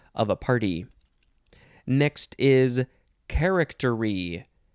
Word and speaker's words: charactery: a party next is charactery charactery or you could say correctory i guess if you want charactery noun from 1598